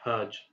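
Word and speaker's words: hajj: the word hudge correctly you would have to pronounce it as the English word fudge except with an H rather than an F so instead of saying fudge you would say hudge and that's actually the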